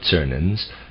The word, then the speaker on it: Czernin: In this book of Cernan's, which is spelled Czernin, we may read something like the following passage, quote, "The war continues, though in another form.